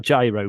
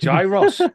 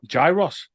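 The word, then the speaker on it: gyros: I will bring it up it's not a gyro Pizza no it's not a gyro Pizza it depends if you try it it's actually gyrus so it's a gyro Pizza calls it geros and it's actually pronounced gyrus okay I'm gonna share my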